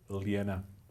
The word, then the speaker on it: Lena: Fun fact, Lena is how you say it in the original mother tongue. Lena.